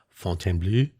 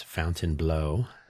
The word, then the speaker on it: Fontainebleau: rambling on and on, pronouncing Fontainebleau as Fountainebleau, you can always tell right there.